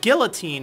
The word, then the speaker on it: guillotine: But after reading in the comments, I was kind of prompted as to, you know, what the correct pronunciation is. And it seems that Guillotine is actually becoming more and more prominent nowadays.